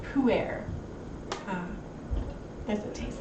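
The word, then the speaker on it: Pu'er: Poo air? What? It's a type of tea, apparently. Gross. No, it spelled like poo. but pronounced like foo, so what's the difference?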